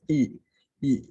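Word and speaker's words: 乙: this is here so this symbol itself pronunciation as y i is e e so this e itself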